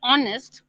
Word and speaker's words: honest: Okay, when you say honest, the sound is like a O, H is silent, and the sound is like a O, so we say an honest man.